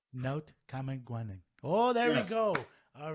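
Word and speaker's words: Naotkamegwanning: How do you pronounce it? Kamagwaning. Naut Kamagwaning. Naut Kamagwaning.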